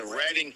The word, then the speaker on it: Reading: Reading is pronounced, my dear friend. Reading, Pennsylvania, live from the Phillies AAA minor league baseball team stadium there.